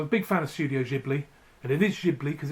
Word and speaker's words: Ghibli: big fan of Studio Ghibli and initiative because it's a friend Italian word it's not not so it's a soft G not a hard G like most Japanese so yeah japanese animation